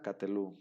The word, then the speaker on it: Katelú: Katelú. ¿Cómo se translitera? Así como está aquí. Katelú. ¿Sí? Entonces, este Sheva, aquí sí es móvil. ¿Por qué se pronuncia? Porque le antecede una vocal larga.